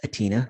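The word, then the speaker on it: Athina: But yes, the first one that I wanted to present to you is, her name is Atina, the H is silent, but she's been doing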